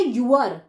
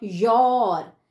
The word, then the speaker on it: your: अब इसे भी कुछ बच्चे प्रोनाउंस करते हैं यूअर। तो बच्चों यूअर गलत प्रोनाउंसिएशन है। सही कैसे प्रोनाउंस करते हैं? योर।